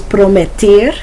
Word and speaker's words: prometer: To promise in Spanish is prometer. Prometer. Prometer. Sometimes it's hard to pronounce those E's like A.